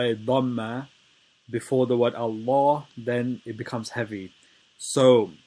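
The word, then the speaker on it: الله: reason why is because this lamb of allah is heavy because before the word allah there is a fatah on on the moon so you say in allah and the wrong way to say it would be to make it light which would be makes it light which makes it wrong once again um before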